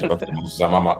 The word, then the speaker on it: Amama: Did I pronounce that well? Yeah, you did. I did. Amama.